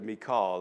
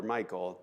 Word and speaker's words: Michal: her out there that he's already married to Michal or Michael, depending on how you pronounce it.